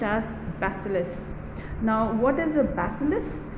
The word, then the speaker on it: bacillus: is the stolen basileus okay so this is pronounced as bacillus now what is a bacillus it is actually